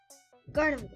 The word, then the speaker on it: Gardevoir: Gardevoir.